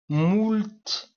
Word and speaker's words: moult: Je le lui ai dit moult fois, de nombreuses fois, moult, ça se prononce ainsi, je pense.